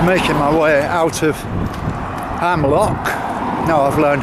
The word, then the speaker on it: Amlwch: and I'm just making my way out of hamlock now I've learned how to pronounce it and uh it's gonna be a